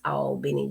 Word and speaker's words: Albany: My cousin Karen is watching in Albany, spelled like Albany, New York, but it's Albany, Georgia.